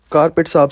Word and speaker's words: Corbett: मैं आपको बता दूं कारपेट साहब कुमाऊ के अंदर कॉर्बेट साहब को ही बोला जाता है कॉर्बेट साहब को वह कार्पेट साहब ही प्रोनाउंस करते हैं और करते आए हैं